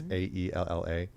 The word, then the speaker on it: Aella: So I listened to this podcast with this woman named Ayala. I think I'm saying it right. It's Aella.